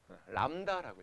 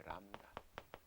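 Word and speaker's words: lambda: 이거 읽을 줄 아는 사람이 몰라. 왜 몰라? 람다라고 읽어. 람다 라틴어예요. 라틴어. 람다 앞으로 이제 익숙하게 만들어질 거예요.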